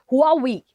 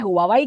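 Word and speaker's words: Huawei: China को सबसे पहला 5i अटैक करता है हुआवी, that is हुआवी। Pronunciation में थोड़ा हो सकता है बिकॉज काफी प्रोनाउंसिएशंस हुआवी कहते हैं, हुआवाई कहते हैं, बट इस कंपनी में जो CFO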